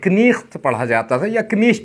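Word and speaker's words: knight: जो शब्द है आपका जैसे आज आप नाइट पढ़ने हो यह शब्द कनेक्ट पढ़ा जाता था पहले जरा सोच के देखिए कनिष्ठ बोलने के लिए मेरा चेहरा भी कैसा हुआ चला जा रहा है यस सर शुक्र मनाइए साइलेंट हो गया और चेंज हो गया वरना बड़ी परेशानी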